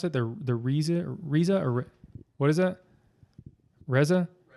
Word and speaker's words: Reze: How do you pronounce it? The Reza or what is that? Reza? Reze.